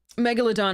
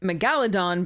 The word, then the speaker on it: Megalodon: past I pronounced um Megalodon. I used to pronounce it Megaladon because um uh the the the roots would suggest that it was pronounced that way, but it's not.